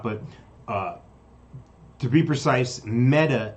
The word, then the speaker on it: Meta: uh to be precise metta is pronounced like the feminine form of a hebrew word which is dead it means dead so